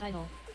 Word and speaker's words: I-DLE: they're on the cube the group name is simply pronounced as idol but the girls sometimes